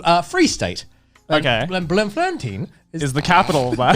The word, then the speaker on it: Bloemfontein: It's pronounced Bloemfontein, literally blooming fountain, nicknamed the City of Roses.